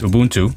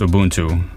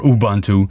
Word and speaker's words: Ubuntu: yeah I created a new virtual machine that's Ubuntu and it is pronounced Ubuntu uh not Ubuntu or abantu or Ubuntu fight me in the comments about it it's